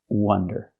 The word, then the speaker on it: wonder: If I use the short closed sound like cup and up, and I say wonder, well, that's a different word. That's this word. This word is pronounced wonder.